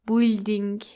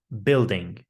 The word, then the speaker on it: building: Do not pronounce the U in building. Don't say it like building. It should be building. Building, which rhymes with gilding.